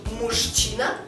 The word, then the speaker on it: мужчина: чательно Дальше слово мужчина мы пишем Мужчина но произносим мужчина мужчина мужчина причём у нас здесь ща она не удвоенная Она одинарная мужчина дальше идёт удвоенная